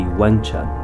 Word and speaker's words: Yong Chun: her newly created art the name yong trun means eternal spring and in the local dialect of hokkien would be pronounced or in cantonese would be wengchan if you think that